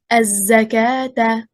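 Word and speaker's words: الزكاة: For example, as-salata, az-zakata. We do not pronounce waw, and yet it is written like this in all the Qur'ans.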